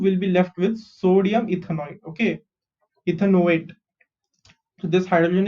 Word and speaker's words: ethanoate: big test tube will be left with sodium ethanoate.